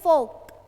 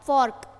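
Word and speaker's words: folk: object आ गया फोक इसको अब आर लिखा हुआ है इसको आर को साइलेंट रखना है ठीक है प्रोनाउंस कैसे करोगे फोक इसको ऐसे नहीं पढ़ोगे आप फर्क ठीक है आर को पढ़ना ही नहीं है साइलेंट रखोगे फोक फोक हो गया ऑब्जेक्ट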